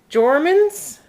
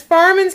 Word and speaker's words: Farmans: You have to get Jormans? That says Farmans. We've been pronouncing it wrong. It's Farmans cucumber chips.